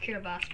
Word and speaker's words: Kiribati: Well, it's actually pronounced Kiribati, but I don't know why they call it Kiribati.